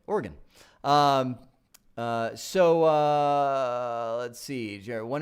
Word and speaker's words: Oregon: side of things so from Oregon or a gun that's not how you say it Oregon so let's see Jerry